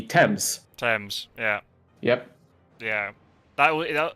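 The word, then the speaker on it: Thames: think like there's a there's a river that's spelled t h mes that I'm pretty sure in the states is pronounced the themes but obviously in the UK that would be temps TS yeah yep yeah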